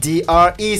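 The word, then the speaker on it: Dre: D.R.E. Ça te fait 3 points. T'as vu, j'ai fait un effort, j'ai prononcé Bah ouais, avec.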